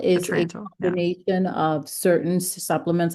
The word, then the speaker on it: Atrantil: Atrantil is a Atrantil, yeah.